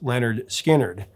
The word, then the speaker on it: Lynyrd Skynyrd: South and the band's debut album pronounced Leonard skinnard would follow shortly after that